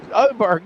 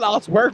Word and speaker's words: Oberg: Oberg, not Osberg.